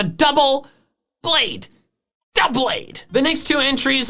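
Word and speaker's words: Doublade: also quick psa also a call out for pokemon 7 specifically it's not pronounced dewblade it's a double blade doublead the next two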